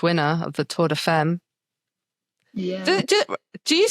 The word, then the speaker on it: femme: Tour de Femme. It is Femme. French is weird. You'll pronounce letters the wrong way.